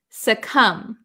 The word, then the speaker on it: succumb: is no B sound succumb succumb suum the B is silent the B is silent